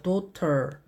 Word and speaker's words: daughter: 중간에 GH는 소리가 나지 않는 묵음이죠. 그래서 daughter 하셔도 되고 daughter라고 미국식 발음으로 T를 리을 발음처럼 굴리시면 됩니다. 그래서 daughter.